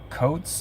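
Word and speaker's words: Coate Water: just got back from coats is how you pronounce It Coats water in Swindon UK what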